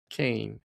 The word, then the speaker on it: Kain: Kane. And with a K. And Kane. K A I N. Like Cain and Able.